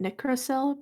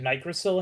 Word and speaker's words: nicrosil: I pronounced it Nicrosil because it should technically be a short I sound based on what I know of phonetics and how to read words. I always pronounced it Nigrosil in my head because I just did.